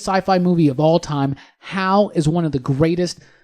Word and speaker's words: HAL: Hal? Oh my God. HAL, like Hal Jordan.